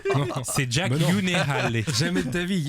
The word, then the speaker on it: Gyllenhaal: Gyllenhaal. Je crois que la vraie prononciation c'est Yunehale. Parce que c'est un Non. nom suédois.